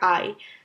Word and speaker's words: Ei: এরপরের যে দুই লেটারগুলো একসাথে প্রোনাউন্সিয়েশন হয় হচ্ছে ই আর আই। সো ই আর আই লেটারগুলো যখন একসাথে থাকে তখন এটার প্রোনাউন্সিয়েশন হয় আই। আর একটা এক্সাম্পল সেটার জন্য হচ্ছে যেমন ডাস আই। ডাস আই হচ্ছে জার্মান শব্দে মানে ডিম বা দ্য এগ।